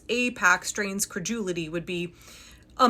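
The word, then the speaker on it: AIPAC: back as 2019 where Pac-Man can clearly capably pronounce Apac correctly. Apac uh Apac support Apac. A few moments later, outrageous claims suggesting that it's Apac or IPAC.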